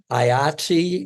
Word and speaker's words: IATSE: IATSE is it sounds like the dice game Yahtzee.